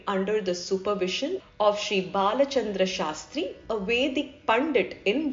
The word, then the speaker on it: Balachandra: the supervision of Sri Balachandra Shastri, a Vedic Pandit in Dharwar. Whenever we think about the name mentioned above, we remember what Periyaval said. You should pronounce the name as Balachandra and not Balachandra.